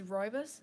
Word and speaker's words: Roibus: You pronounce my name as Roibus, so you can say like Roibus.